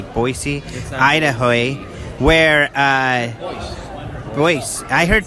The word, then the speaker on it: Boise: Boise that's how they say every hurdle oi locals say Boise Idaho where voice I heard voice also so